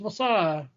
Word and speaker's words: Wausau: And I'm sure there's someone over there that's saying oh no, it's pronounced Wassa. It's it's Wassa.